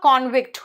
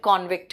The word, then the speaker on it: convict: मैंने कहा convict noun के रूप में इसका प्रोनाउंसिएशन convict है, और दोषी साबित होना वर्ब के रूप में convict होता है।